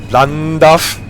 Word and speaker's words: Llandaf: This interesting Welsh letter with a double L. Llandaf. The next stop is Llandaf. Really hard to pronounce. Llandaf. Like in Llandudno. Llandudno.